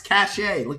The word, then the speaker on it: cache: the stuff but now cache cache guys cache come on it's c-a-c-h-e there's no t in there come on where are